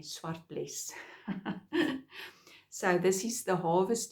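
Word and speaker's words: Zwartbles: Swartbles is easy for us Afrikaans speaking people to pronounce because it's a Dutch sheep that is now also breeded in England. So that's why I think English speaking people or American speaking Americans find it a little bit difficult to pronounce the word or say the word, but because it's Dutch, it's easy for Afrikaans speaking people to say Swartbles.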